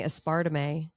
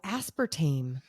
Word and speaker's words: aspartame: in the room and he kept saying espart and I was like what is he saying and then I was like oh aspartame people from the UK say aspartame he was he